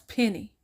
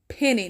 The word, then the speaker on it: Penny: And how do you not know how to pronounce Penny? Is Daniel Penny, not Pen? What the heck is Penet?